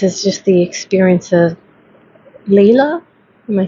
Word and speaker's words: Leela: And this is just the experience of Leela. Am I saying it correctly? Yeah, Leela.